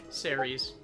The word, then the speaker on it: Ceres: How do you pronounce that? Series? Ceres. Thank you very much.